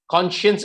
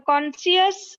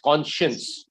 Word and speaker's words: conscience: to excuse identify the subject are guilty conscious conscience is how you pronounce the word read the sentence again are guilty uh conscious needs no excuse what you're pronouncing is a